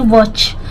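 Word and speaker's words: watch: ध्यान नहीं दे रही वच देखिए डब्लू ए टी सी एच ठीक है इसको पढ़ते हैं वाच सी एच के पहले अगर टी हो तो टी साइलेंट आता है इसको पढ़ते हैं वाच कॉर्नर सी के बाद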